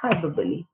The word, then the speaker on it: hyperbole: show emphasis hyperbole now you have to be careful with the pronunciation because the spinning is little different but the pronunciation is hyperbole is an unreal exaggeration